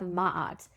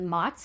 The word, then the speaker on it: maat: Last episode I pronounced it mat, but I think it's actually ma. That's what I heard in a YouTube video that I watched as part of this research. And again, that's spelled m a t.